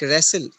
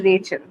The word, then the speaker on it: Rachel: name on the id it's like wrestle is it pronounced no it's a rachel where did you say